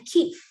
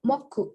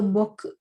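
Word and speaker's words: 木: Cara baca kunyomi atau Jepang aslinya ki, pohon artinya. Kemudian onyominya moku atau boku gitu.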